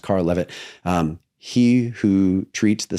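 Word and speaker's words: Karel Lewit: Um there's a a guy, his name is Carl Levit, looks like Carol Lewitt, but it's pronounced Carl Levit.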